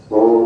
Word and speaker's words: ओम: लेकिन ओम का उच्चार करते समय अ, ओ और म इन तीन शब्द का इस्तेमाल जरूर करें। अ उ म इस प्रकार से बोला तो शुरुआत करते